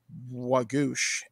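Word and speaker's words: waagosh: be the fox or in Ojibwe you pronounce it wagoosh and I thought this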